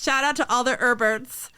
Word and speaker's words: Herbert: out to all the herberts spelled with a silent h all right what's a